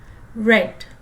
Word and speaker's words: read: Notice the spelling of read, it doesn't change. It's only the pronunciation, read.